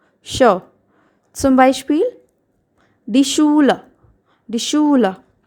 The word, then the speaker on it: Schule: Okay, when these three follow S, then S will be pronounced as SH of English. It means it will sound like sh. Sh. Zum Beispiel, die Schule. Die Schule. S is followed by CH. So, Schule.